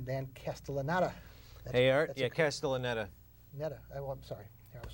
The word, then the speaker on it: Castellaneta: Yeah, Castellaneta. Netta. I'm sorry. I was so proud of knowing how to pronounce it.